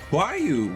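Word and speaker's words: Roaille: Get to just sit here and complain about why Square Enix decided Huayu was how you're going to spell or pronounce the name that is spelled R-O-A-I-L-L-E.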